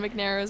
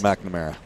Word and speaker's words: McNamara: the fire in John McNaira's eyes. I think I think I pronounced that wrong, but I mean, he looks angry right now, even though they're up by 23 points. McNamara. There we go. McNamara.